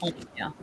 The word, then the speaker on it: Anja: Anja, but she pronounces it Anya.